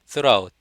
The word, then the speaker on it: throughout: 예, 내내 저녁에 throughout. 아시겠죠? 내내 저녁에 throughout. throw 던지다의 과거인 throw하고 발음이 똑같아요.